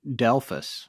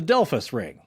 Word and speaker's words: Delphos: actually but i guess the locals actually pronounce it delphis the delphus ring yeah yeah but it's